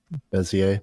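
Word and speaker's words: Bézier: So yeah, so at first I used how do you pronounce it, Keegan? Bezier. Bezier.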